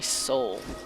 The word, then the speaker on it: Soule: those amazing games and his name is jeremy soule i believe i pronounce